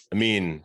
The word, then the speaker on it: Amin: Amin. No, it's Amin.